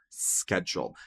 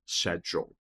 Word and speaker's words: schedule: Schedule. Sim, os britânicos vão dizer schedule. Shadule, tá? Isso é no inglês britânico. Mas fora disso, schedule, um som de cque, tá?